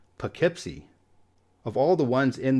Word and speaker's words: Poughkeepsie: City and it's pronounced Poughkeepsie of all the ones in this video I think this is the one whose pronunciation is the furthest away from where it looks this is a city